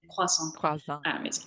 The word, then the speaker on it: croissant: how to pronounce it because growing up, it's always been croissant. It's a French word, and my family are French. We've always said it the French way.